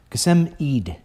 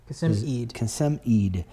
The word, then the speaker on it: Qasem Eid: Jolene, I think I said that right, talking about our recent guest, how do you say his name? Qasem. Qasem Eid. Qasem Eid.